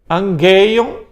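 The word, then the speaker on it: ἀγγεῖον: Então gama gama, você vai pronunciar NG.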